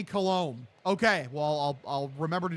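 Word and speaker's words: Coulombe: Pronounced Danny Colombe.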